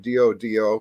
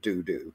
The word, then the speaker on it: dodo: a doctor of disorder a Dodo pronounced dodo not dooo right so and I